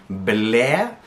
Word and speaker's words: ble: Here I hear a lot of people try to pronounce that E a little bit English style, and then they lose the past tense and it sounds like infinitive, causes confusion. So make sure you hit that in the Norwegian E a little bit harder.